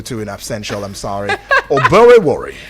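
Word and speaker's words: Oborevwori: How do you pronounce it? Oborevori. Oborevori.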